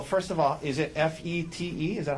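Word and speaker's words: Fête: Um, tell us Well, first of all, is it FE T? Is that how you spell it? Uh, yes. This first E has a circumflex over it. Okay. But it's pronounced FET. FET.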